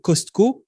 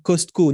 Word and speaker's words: Costco: Mais la plupart des gens que je connais, quand on dit Costco, on dit Costco, non? Avec le S. On ne met pas l'accent sur le T. Le T ne se prononce pas.